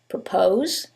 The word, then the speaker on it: propose: same word stress however in the first one it's the second syllable that's stressed and in the second one is the first syllable and that changes the pronunciation completely the first word is propose and the second word